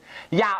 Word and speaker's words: อย่า: ใช้ คำ ว่า อย่า อยาก ออก เสียง ใน รุ อย่า ออก เสียง ยอ ยักษ์ ตัว เดียว อย่า มัน ไม่ ออก